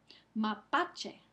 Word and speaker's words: mapache: Mapache. Mapache. Pa. Pa es la sílaba que recibe el énfasis.